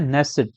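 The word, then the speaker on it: Knesset: known as द नेसट के जो है इसका साइलेंट है तो इसको क्या पढ़ते हैं नेसट तो इस सवाल का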